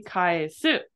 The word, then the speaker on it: kaesu: So this right here is actually kaesu. So it's pronounced ka and then e.